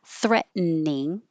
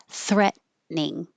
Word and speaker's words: threatening: It can be 3 syllables, threatening, or 2 syllables, threatening.